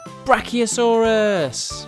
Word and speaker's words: Brachiosaurus: let's learn all about brachiosaurus how do you say that again bra oh saw russ do you know how